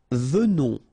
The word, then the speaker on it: venons: Nous venons, okay? So final S not pronounced, and then remember that you pronounce this like a the, venons, okay? O-N in your nose, on, venons, nous venons, all right?